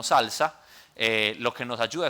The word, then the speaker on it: SLSA: Eh, esta otra que SLSA se pronuncia como salsa eh lo que nos